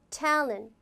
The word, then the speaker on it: talent: specific, specific, talent, talent. 이렇게 강세 받는 거 tell 그리고 런트 이렇게 탤런트 이렇게 하지 않죠? talent 그렇게 발음.